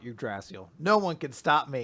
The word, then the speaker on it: Yggdrasil: that was your point according to according to dick the the dictionary the english pronunciation at least is yggdrasil so i'm always gonna call it your drastial no one can stop